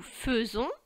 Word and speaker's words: faisons: première personne du pluriel nous nous prononçons nous faisons mais nous écrivons a I d'accord ça s'écrit nous faisons mais on prononce nous faisons ensuite vous faites tes